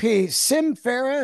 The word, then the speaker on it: Sym Fera: doing man so you got this uh e Sim Farah is that how you say it yeah it's